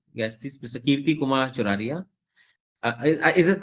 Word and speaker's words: Choraria: Kirti Kumar Choraria. Is it correct pronunciation? Uh, Yes, yes. Yes, sir. Choraria, na? Right, right. Choraria Okay, is thank right.